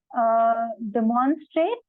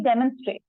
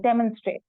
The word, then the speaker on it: demonstrate: One place it was said anomaly, it is anomaly, and demonstrate, and it should be demonstrate. Okay, so you press it in the beginning, demonstrate.